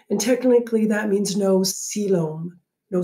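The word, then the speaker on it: coelom: technically that means no siloam no salem y-c-o-e-l-o-m is pronounced siloam i don't know i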